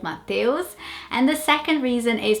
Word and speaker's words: Mateus: And I think people would say Mateus in the same way that they would mispronounce Rafaela. They would probably try and say Mateus. And yeah, that would be a real struggle for someone to read that name and to pronounce Mateus. I don't think that sound, the EUS comes naturally in this language to say eus instead of eus.